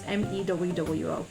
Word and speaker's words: Mewo: And I've decided to turn these characters into this creature called Mewo. Or Mewo, however you want to pronounce it. It's Mewwo.